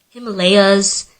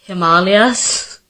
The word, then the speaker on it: Himalayas: literally anytime it has to do with the pronunciation of an Indian word I'm the one who's being corrected like ashwag gandha and Himalayas it's Himalayas and it's ashwag gandha I feel like every